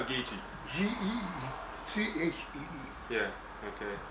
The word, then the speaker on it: Geechee: How do you spell Geechee? G-E-E-C-H-E-E. Yeah, okay. It's spelled just like it sounds.